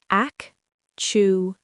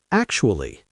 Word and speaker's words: actually: Ak-chu-lee. Ak-chu-lee. Try to say it with us at home. Take your time. Ak-chu-lee. Actually. Actually. See? It sounds much better when you say it softly in 3 parts.